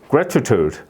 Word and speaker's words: gratitude: 예 그다음에 여기 it gratitude gratitude grude 요것도 이제 마찬가지로 슈어 발음이 이제 되는 거죠 gratitude gratitude 라기보다는 gr 예 이렇게 발음이 되는 거예요이가 아니고 예 그다음에